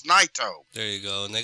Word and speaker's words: Naito: Naito. It's Naito.